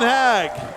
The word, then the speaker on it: Haag: 36 back to Jennifer Steven hag that's his pronunciation peg hag he's ok with both I believe but Steven hag at